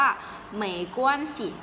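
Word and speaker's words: 没关系: ตัว นี้ เลย ค่ะ ออก เสียง ว่า เมย์ กวน สิ ไหม กวน สิ เห็น ไหม คะ คำ สุด ท้าย นะ คะ ไม่ มี เสียง นะ คะ ตอน ที่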